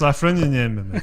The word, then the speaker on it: Lafreniere: I was going to say, that's not how you pronounce it. Luke It's Lafreniere. Luke Lafreniere. Luke Lafreniere.